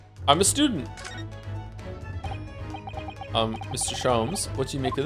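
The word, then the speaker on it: Sholmes: Shoms is pronounced the same as jams. Shoms. Herlock. Shoms.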